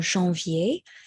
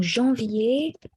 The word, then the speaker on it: janvier: Alors, donc janvier et février sont traités, they're treated like ER verbs in the sense that the ER à la fin is not pronounced. It's just treated like an accent aigu. Aigu. So janvier, it stops at E. So it's not janvier, but janvier. D'accord?